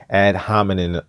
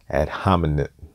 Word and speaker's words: ad hominem: attack issues he just issued and hominin attacks and one of these days I'm gonna actually pronounce that correctly ad hominem okay I'm not gonna